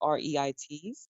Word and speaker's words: REIT: In short, it's pronounced REIT, and normally people just call it REIT, or REIT.